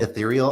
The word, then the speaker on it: Ethereal: Before we go any further, I just want to make sure I'm getting the pronouncing of Ethereal correct. Ethereal. It's Ethereal.